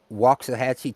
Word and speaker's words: Waxahachie: It's Waxahachie, Texas. It's say walk like the Asian cooking utensil.